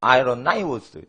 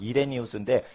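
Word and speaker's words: Irenaeus: 미국 사람은 아이로나이우스 이렇게 발음을 하지만 우리나라 사람은 이레니우스인데 이레니우스는 사도 요한의 손주제자뻘이에요.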